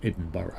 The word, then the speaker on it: Edinburgh: still vaguely amused that the word that says Edenberg is pronounced edinb I will eat you ask